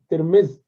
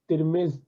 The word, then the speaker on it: ترمذ: اور یہ ترمز جو جگہ ہے، یہ ترمز اور ترمز تینوں طرح اس کا تلفظ کیا جاتا ہے، اسی کی نسبت سے